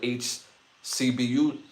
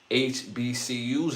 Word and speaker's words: HBCU: And the ones that are not ran raggedy, they don't do business with HCBU with H. I got y'all got me saying it wrong. HBCU anymore.